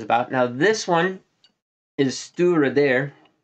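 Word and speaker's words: Stiùireadair: this video is about now this one is stura there pronounced at least according to the back label that's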